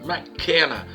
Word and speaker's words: McKenna: Mac de McDonald's, McKenna. A pronúncia é mais ou menos assim, tá certo?